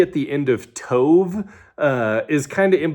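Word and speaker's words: טוב: Um, so, uh, B is actually just like a really intense V in Hebrew, sort of. Um, and so it's kind of like in the middle of that B and V sound, but the Hebrew word is tove.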